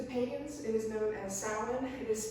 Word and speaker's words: Samhain: October 31st to payments it is known as salad it is spelled Samhain as you can see it comes